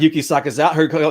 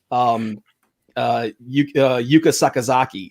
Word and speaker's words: Yuka Sakazaki: He called Yuki Sakazawa. He called her Yuki Sakazawa, and her name is actually Yuka Sakazaki.